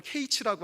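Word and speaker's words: קַיִץ: 그게 무슨 뜻이냐면 여름 과일은 케이치라고 하고요, 끝은 캐츠입니다. 네가 케이치를 보느냐? 이 백성의 캐치가 곧 왔다라고 하는 것이에요. 네가 여름 과일 한 광주리를 보느냐? 이 백성의 끝이 이르렀도다라고 얘기를 합니다. 여름 과일 광주리하고는 끝하고는 상관이 없지만 발음의 유사성 때문에 그렇게 가져온 것 같습니다.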